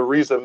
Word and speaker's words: Rizza: But one question I did have for Brother Rizza, really, am I pronouncing that correctly, brother? Brother Rizza. Yes, brother Rizza.